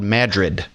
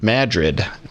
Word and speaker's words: Madrid: is spelled like Madrid we use famous cities or states here and pronounce them incorrectly so it's called Madrid and we also have